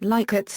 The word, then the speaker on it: Likert: Pronunciation: Rensis Likert, the developer of the scale, pronounced his name Likert with a short I sound. It has been claimed that Likert's name is among the